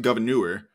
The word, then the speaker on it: Gouverneur: town near where I grew up called we pronounce it Gouverneur. But yeah, you absolutely took something else here. Yeah, there are a few things named after him, and one of them, in the town of Gouverneur, which is named after him.